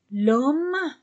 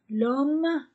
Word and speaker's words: l'homme: bon le cahier cahier l'homme je ne prononce pas h l'homme le livre le stylo